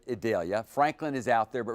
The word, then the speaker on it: Idalia: That's what we're told to pronounce it. Idalia.